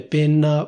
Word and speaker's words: penna: You can say /pènna/, or you can say /pénna/.